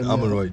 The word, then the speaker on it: Amorim: So since Ruben, how do you even pronounce it? Ruben Amorim. Yeah, Amorim.